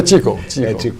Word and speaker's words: Qigong: Foi o Ti que se escreve Ki. Mas é Qigong. Qigong.